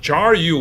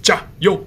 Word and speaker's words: 加油: you would say it sounds like jar and you. So it sounds like you put a little bit oil into the jar to recharge someone. But again, in Chinese, monosyllabic, so cut the ending syllable, make it short, fast, and sharp. So not jar you, but just 加油, 加油, 加油.